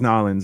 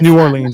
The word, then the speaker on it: New Orleans: Is every time I say New Orleans, and they're like, "Don't pronounce it like that," and I'm like, "Why?" They're like, "It's Nolans," and I'm like, "It's not. It's New Orleans.